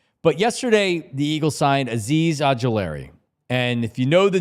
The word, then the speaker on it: Azeez Ojulari: And then it actually is pronounced the way that it's spelled, Azeez Ojulari.